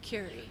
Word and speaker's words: Kuri: Kuri. I always get everybody's name wrong. But the Kuri, like Madame Curie.